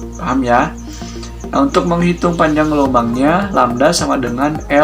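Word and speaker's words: lambda: lembah ini apa sih ini dibacanya lamda lamda ya ini adalah lambang dari panjang gelombang Naruto menghitung panjang gelombang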